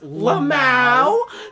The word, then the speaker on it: lmao: over saying wall and lmao way it's pronounced lamay whatever decided that what